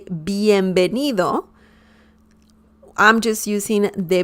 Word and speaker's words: bienvenido: we don't have that we pronounce b and v just like you would pronounce b in english b as in bell okay when i say bienvenido i'm just using the